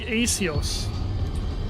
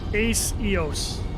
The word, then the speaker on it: Acios: C in my nickname comes from the word ace, so it's pronounced as S. Oh, okay. That makes sense. Yes, watch it burn. So it's like Acios. Ace Eos.